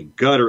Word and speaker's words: Qatar: way of saying that that qatar pronounced cutter is probably more in vogue now it's replacing the older way qatar people who have had some interaction with the region might say gutter a bit more not inaccurate either as many qataris will